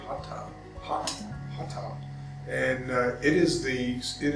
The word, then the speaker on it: hatha: things so hatha yoga h-a-t-h-a will pronounce it hatha but it's actually hot and it is the